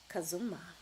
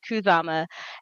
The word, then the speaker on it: Khuzama: So, let's talk about how you came to be known as Kazuma. Okay. So, I have been and it it's the way I pronounce it is Kuzama. And I have been Kuzama now for I actually just recently counted it has been 20 years.